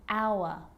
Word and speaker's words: hour: And sometimes it's not pronounced at the start of a word, like honest and hour.